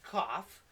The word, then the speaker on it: cough: show you now o-u-g-h can make the off sound like in cough trough okay cough cough or